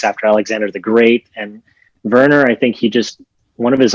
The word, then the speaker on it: Werner: And Werner, I think one of his uncles was named Werner with a W. And in Germany, you pronounce W's with a V.